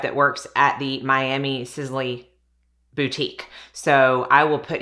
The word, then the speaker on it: Sisley: product is the sis I was about to say sisily but I think it's actually pronounced sizzly phyto Hydra tint beautifying